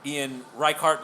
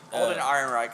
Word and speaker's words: Alden Ehrenreich: Now me personally, I think that the only fault with Solo in my eyes is Ian Reichart. Is that how you pronounce his name? Alden Ehrenreich.